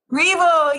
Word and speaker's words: Reble: Reble, yes. Which is always my biggest fear, everyone, just so you know, pronouncing someone's name wrong.